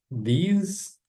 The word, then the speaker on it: these: Esse aqui vai ser these. É o contrário dos sons, né? A letra I aqui vai ter o som de e a letra E aqui vai ter som de I.